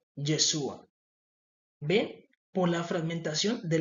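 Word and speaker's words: ישוע: Él nació y en el hebreo no se utiliza la J, se utiliza la Y. Yesua, en el inglés se dice Jesus. Entonces vemos de que cada en cada lenguaje el nombre de Jesús se pronuncia también diferente. En inglés se dice Jesus, en español Jesús, en hebreo Yeshua.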